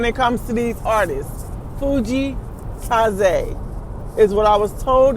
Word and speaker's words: Fujii Kaze: Fuji Kaz is what I was told is supposed to be pronounced. Not Fuji K's like I say it, but Fuji Kaz.